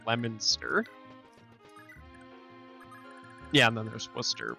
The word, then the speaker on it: Leominster: place in mass that looks like it's pronounced leo leominster but it's leominster yeah and then there's